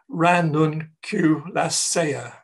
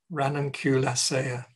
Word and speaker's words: Ranunculaceae: it's a rare flower of the crowfoot family pronounced in Latin Ranunculaceae. Ranunculaceae.